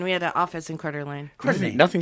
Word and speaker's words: Coeur d'Alene: And the winner of that is Denise Tootin from Coeur d'Alene, Idaho. Coeur d'Alene, Idaho? Wow. Yeah, Coeur d'Alene. Excellent. Coeur d'Alene. You spell it C-O-E-U-R and then space and then a